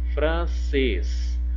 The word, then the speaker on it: francês: Quando eu vou pronunciar a palavrinha, eu não falo francês, eu falo francês, né? Francês. Então tem o som fechado.